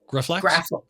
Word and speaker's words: Graflex: This is how do you pronounce it? Graflex? Graflex.